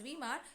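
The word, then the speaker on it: Weimar: assembly it's met at vemma it is called as it is pronounced as veemar so a national assembly is met at wemark and they establish a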